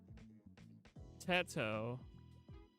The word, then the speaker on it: Teto: Y'all love Tito like I like. I love a Match of Dragons. I thought that's how you pronounce her name, Tito.